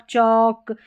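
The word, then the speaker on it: chalk: फिर यहाँ पर है एल के में, ठीक है, यहाँ पर जैसे वॉक, टॉक, चौक, ये जो एल के में एल है ना वो साइलेंट है, के नहीं है, ठीक है।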